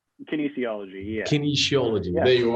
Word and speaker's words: kinesiology: Kinesiology? Kinesiology, yeah.